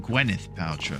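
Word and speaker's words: Gwyneth Paltrow: Gwennneth Paltro.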